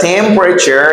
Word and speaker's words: temperature: say temperature all right the E is silent I say temporary temporary